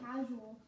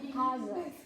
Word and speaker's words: causal: Casual. It is causal. It is pronounced as causal Oh, body.